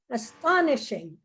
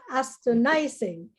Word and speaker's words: astonishing: there you go so astonishing so it's not astonizing and I is not correct plus your stress is nising so it's a okay